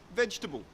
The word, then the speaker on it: vegetable: in the same vein we don't say vegetable vegetable is incorrect we get rid of that second syllable that air sound and we just say vegetable vegetable I use my